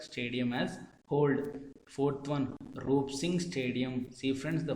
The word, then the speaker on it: Roop: Fourth one, Roop Singh Stadium. See friends, the first four letters is ROOP. Its pronunciation is similar to rope, rope, rope, rope, rope.